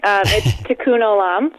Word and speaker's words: tikkun olam: tikkun olam stands for yeah you're really close tikkun olam so a little bit different first word but